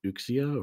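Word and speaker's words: Uxía: bed by herself and her name is ukia or Yu it's spelled ux I a like one of the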